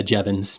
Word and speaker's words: Jevons: want to butcher the name, but is it Jevons paradox? Is that how you pronounce it? Yeah, Jevons.